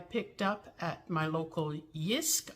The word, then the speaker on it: JYSK: up at my local yisk I believe is how they pronounce it JYSK I think the J is silent if not feel free to correct me but anyway I got